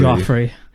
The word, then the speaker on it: Joffrey: So even though you are playing two characters, is that pronounced Jeffrey or Geoffrey? Joffrey.